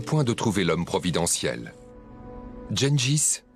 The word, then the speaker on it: Gengis: Genjis que l'on peut aussi prononcer Tinguis ou Chingis d'abord baptisé Temuin était et reste encore un des plus grands conquérrants de l'histoire.